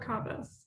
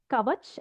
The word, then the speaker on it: Kavas: So it's not Kavach as in shield, or Kavas, or any other variation. It's just Kavas. It comes from the Persian name Kaus.